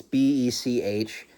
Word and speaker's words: Bech: Is it Betch or Beck? I want to say it's Beck. It's Bech.